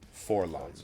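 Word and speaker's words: 4-LOM: And then he has a droid companion, Forlom, or 4LOM, apparently it's actually pronounced.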